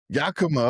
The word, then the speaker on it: Yakima: Yakima. Okay. How was that growing up? Yeah, so it's a small town or city in central Washington. I mean, a lot of people know Yakima.